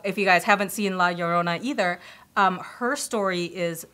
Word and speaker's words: La Llorona: is it how you say it la lorota la Llorona yeah yeah is that would that be kind